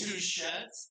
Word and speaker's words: Touchette: It is Touchette, but I know I have Michigander, second, third, fourth cousins that will pronounce it a Touchette. So right now, either way. Okay.